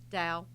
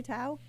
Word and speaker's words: Tao: How do you say it? Dow. You say it Dow. Mhm. But do a lot of people say Tao? People who don't know how to pronounce it.